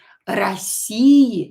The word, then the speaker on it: России: Or not stress, so pronounce it as a. России, and do not forget about the stress.